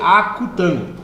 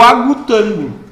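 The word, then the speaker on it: acutângulo: Pelo amor de Deus, não vai inventar falar lá. Ah, é o agutango. Não é agu. Porque se escreve agudos, e a gente acha que é agutango. Não é, não existe agutango. É o acutango.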